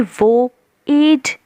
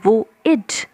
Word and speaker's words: voyage: सबसे पहली चीज़ जो आपको नोट करनी है कि ये वो एज नहीं है, इट्स वो इड। is the pronunciation.